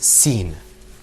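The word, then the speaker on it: س: Now, let's move on to the next letter, which is sin. And inshallah, you're going to see that coming up on your screen. Okay, let's pronounce that word.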